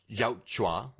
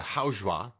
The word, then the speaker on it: Yautja: And it's Dutch versus the Yautja or the Yautja. There's a couple different ways to pronounce it, but we're going to